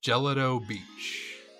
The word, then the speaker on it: Gelato Beach: thanks bro Bridge oh hey oh hey it's pronounced gelato Beach all right dude Bud